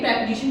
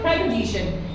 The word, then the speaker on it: preposition: हम डिटेल में पढ़ेंगे प्रेपोजिशन टॉपिक को। अब इसका प्रोनाउंसिएशन दोस्तों मैंने यहाँ पर लिखा है प्रेपोजिशन, ये शन है, प्रेपोजिशन। इसका जो प्रोनाउंसिएशन है दैट इज कॉल्ड प्रेपोजिशन। कई लोग प्रीपोजिशन को देखिए अपना अपना टोनल, कई